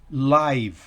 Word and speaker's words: live: la siguiente para él para él no se pronuncia está al final de la sílaba live live en vivo entonces recuerde como